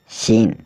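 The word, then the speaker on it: scene: Saint मतलब गंध एस सी ई एन ई सीन सीन मतलब दृश्य एस आई एन सी साइंस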